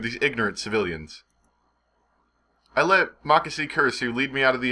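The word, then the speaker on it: Makise Kurisu: Makase Kurisu, that's how you say it.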